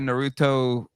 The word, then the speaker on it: Naruto: I'm sure I'm sure the Hot Wheels people or Naruto, I don't know how to pronounce it.